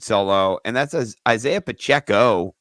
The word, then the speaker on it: Pacheco: Well, I've got a guy who you could sell low, and that's Isaiah Pacheco, rhymes with sell low, So I thought that could be, you could sell him too.